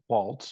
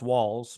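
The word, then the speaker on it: Walz: and it's Governor Tim Waltz from Minnesota by way I think it's pronounced Walts walls yes walls I'm sorry Tim Walls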